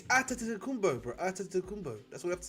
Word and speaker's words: Antetokounmpo: Antetokounmpo. That's what I have to say. Antetokounmpo, yeah. Me? It's not really Antetokounmpo.